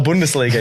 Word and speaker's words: Bundesliga: Head the German leag the Bundesliga the Bundesliga yes come on man you got to lean into that the bundes I was like I'm